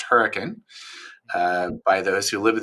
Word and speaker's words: Hurricane: small Mormon Village uh um spelled hurricane but pronounced hurricane uh by those who live there uh my